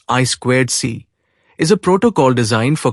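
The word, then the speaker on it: I²C: I superscript to C interintegrated circuit pronounced I squared C is a protocol designed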